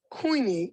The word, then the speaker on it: Queenie: you spell your birthday queenie like queen i'm a queen i'm a